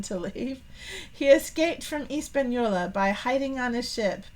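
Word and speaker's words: Española: the island of oh I always kind of pronounced it with Hispanola but they're leaving off the AG Espanola Espanola okay no h I learned something new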